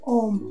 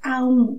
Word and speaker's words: Aum: La mística sílaba la pronunciamos Om, pero en realidad es Aum, con tres letras más una posterior que llamaremos silencio.